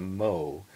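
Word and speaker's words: mho: yet so they used a unit called the mo which is spelled m ho o which if you spell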